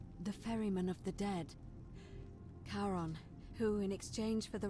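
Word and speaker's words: Charon: It's just as you described it, only your pronunciation is a little off. The name you heard wasn't Karen. It was C H A R O N as in Kon, the fairyman of the dead. Karon, who in exchange for the right coin, helps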